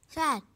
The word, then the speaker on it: chat: Chat, that means cat. T is silent.